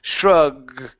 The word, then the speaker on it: shrugged: Now with that g sound, let's pronounce a D. Shrugged.